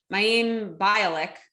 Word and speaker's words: Mayim Bialik: don't even know how to say her name mayim bialik as a host for special events and primetime